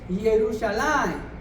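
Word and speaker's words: ירושלים: El nombre Jerusalén, ¿sabía usted que en el idioma hebreo, ahí está escrito, Jerusalén, se pronuncia así, Jerusalén?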